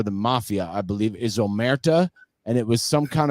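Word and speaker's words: Omertà: And how do you pronounce that? Amatura? Omerta. It's the code of silence for the mafia, I believe, is Omerta, and it was some kind of mashup.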